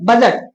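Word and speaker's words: budget: डी का देखिए silent क्या होता है? पढ़िए। बजट बजट। ठीक है ना? यहां पे देखिए डी ये साइलेंट हो गया।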